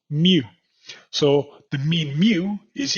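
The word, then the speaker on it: μ: the Greek alphabet and we pronounce this as Mu so the mean mu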